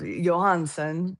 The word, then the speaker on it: Johansen: Well, if we were, you know, in Europe, Johansson, but in the Johansson, the Ian makes it Danish, but in the United States and in Minnesota, we'd say Johansson.